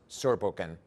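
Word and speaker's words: Zurbuchen: name and your surname so then we can pronounce correctly please yes i'm thomas surbukin i'm the head of science and natasha people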